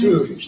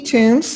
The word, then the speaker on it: Toombs: And recognize Tomes. Did I pronounce that right? Or is it Tomes? Tomes, okay. Hello, council. Is that better? Yes, ma'am. Okay. Hello, my name is Toombs.